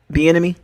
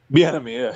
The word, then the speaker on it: Bieniemy: Bieniemy. Bieniemy, yeah.